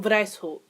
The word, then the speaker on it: Weishaupt: Is that German? Wow, it is German. Wow, I should probably fucking know that. So, the founder was actually Adam Weishaupt.